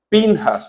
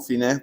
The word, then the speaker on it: Pinjas: del tabernáculo, y vio Pinjas, aquí lo traducen como Finés porque los gringos, o sea, pronuncian la P con la H así como F.